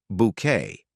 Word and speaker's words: Bucket: He is the calm, patient, and long-suffering husband of the socially ambitious Hyacinth Bucket, who insists their surname is pronounced Bouquet.